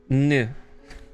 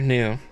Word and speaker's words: Nu: I should probably show how the Nu Gundam is spelled. It's one letter. It's one Greek letter. Nu. Yeah, no, it's not dog themed. It's Greek. The letter Nu.